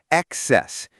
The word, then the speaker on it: excess: And for pronunciation, excess has the stress on the second syllable, excess, and baggage has the stress on the first syllable, baggage.